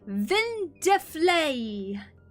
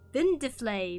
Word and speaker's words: Vindeflay: Also, preemptively, my username is pronounced Vindeflay. Vindeflay, but you can call me Vin, and I know it's a bit of a mouthful.